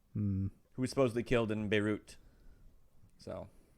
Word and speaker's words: Beirut: at the island who was supposedly killed in beirut so it's pronounced by rue well well well well yeah that wraps up